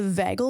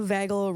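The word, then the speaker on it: vagal: gonna I'm probably going to um butcher the pronunciation here is the vagel response sorry the what the vagel nerve can we show whatever she's saying v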